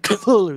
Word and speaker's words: Cthulhu: Cthulhu right I mean in in um lovecraft's letters the way he said you pronounce it is it's like a cough it's like Cthulhu that's why he wrote it like that it's supposed to be